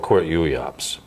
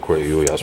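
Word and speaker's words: QWERTYUIOPs: last week, and that was this thing called Quirt Uyops. Yes. You've heard me speak of Quirt Uyops perhaps in the past.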